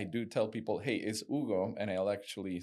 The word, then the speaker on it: Hugo: Now, my friends call me Ugo. Remember that. Yes, I know. I know. I I don't pronounce the name right. It's all right. Ugo.